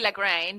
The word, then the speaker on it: Lagrein: We have the lrine which is see we go back to the German pronunciation, right? The Italians would say lrine because that's what you how it's spelled, but it's it's actually lrine and it's a Germanic name goes back to Yeah.